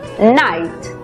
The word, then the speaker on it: night: En la palabra noche, por ejemplo, que se escribe, vemos que la GH es muda. La I toma su sonido abierto. Por lo tanto, la pronunciación es night.